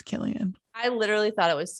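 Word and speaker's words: Cillian: Murphy I do too it really bugs me that his name looks like selan but they pronounced as Killian I literally thought it was selian until just the second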